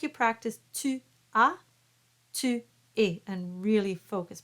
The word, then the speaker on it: tua: Tua. Tricky one. You don't want to say tua. And there's no W sound. It's tua.